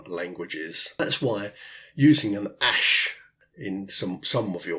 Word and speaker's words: æsc: one worked on me they yes see is pronounced ash and it's the AE and ear letters joined